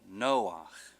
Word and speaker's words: Noach: It'd be Noach. Noach. Okay, so the Emphasis on the other syllable.